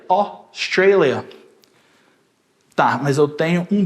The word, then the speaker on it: Australia: AU faz o som de O. O. Australia. Australia.